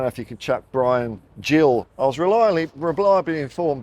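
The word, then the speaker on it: Bryan Gil: reliably informed me that it is in fact pronounced Brian Jill not Brian Hill so I mean I know Portugal isn't Spain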